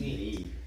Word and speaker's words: knead: When you're making dough, that's called knead. Need.